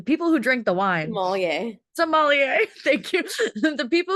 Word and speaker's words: sommelier: So American sommelier, I can never pronounce this word. Sommelier, the people who drink the wine. Sommelier.